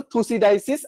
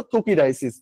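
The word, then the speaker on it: Thucydides: আচ্ছা, গ্রিক দার্শনিক, এটা দুইটাই উচ্চারণ করা যায়, সমস্যা নেই। একটা হইলো থুসিডাইসিস আর একটা হইলো থুকিডাইসিস, দুইটা ইউজ করা যাবে, কোনো সমস্যা নেই।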